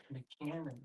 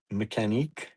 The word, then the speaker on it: Mechanique: Mechanic. Mechanique. He just called it mechanic, Bonnie. In the French way? Pronounced mechanique.